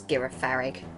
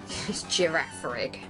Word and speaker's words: Girafarig: awesome giraff rig um still can't believe I used to pronounce it as garig girafarig um normal psychic type